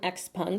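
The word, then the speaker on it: XPeng: talked about xp ev he pronounced this one x-pung so that's what i'm going to go with as well and this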